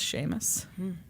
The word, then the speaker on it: Seamus: favorite name ever Sheamus Sheamus looks like Seamus pronounced Sheamus okay it's uh you know Scottish or something